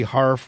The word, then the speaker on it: Harf: wait State Department spokeswoman Marie harf rhymes with barf is leaving her post